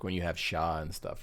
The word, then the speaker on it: Char: It's like when you have Shaw and stuff, right? So yeah, like Char, it's it's pronounced Sha in Japanese, so they spell it Sha, S-H-A.